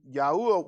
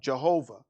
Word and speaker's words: Yahuwah: of elohim al-shaddai but by my name yahuwah was i not known to them but they actually put in and they pronounce it what jehovah so there's a mispronunciation of his name because uh in another